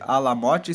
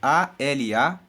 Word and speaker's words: Alamote: Porque cântico de Alamote, Alamote se escreve A-L-A-M-O-T-E, Alamote.